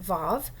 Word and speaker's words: vav: It has the pronunciation of v, like vav, but it also can